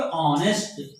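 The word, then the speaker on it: honest: तो इसका उच्चारण क्या करोगे, ऑनेस्ट, क्या होगा इसका उच्चारण, ऑनेस्ट, है ना, ऑनेस्ट मैन।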